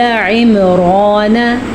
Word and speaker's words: عمران: اور میرے ساتھ ساتھ پڑھیں تاکہ آپ کا تلفظ یہاں پہ بیٹھے بیٹھے ہی ٹھیک ہو جائے۔ وَآلَ عِمْرَانَ، وَآلَ حمزہ کو نرمی سے پڑھا اور عین